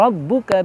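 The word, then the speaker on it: رَبُّكَ: Rabbuka, penekanan tasydidnya terasa.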